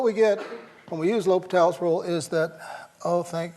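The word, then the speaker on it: L'Hôpital: do you do use that famous rule we all mispronounce when we see it written right we'll use a little L hospitals rule okay it's l'hopital l'hopital's rule oh you have to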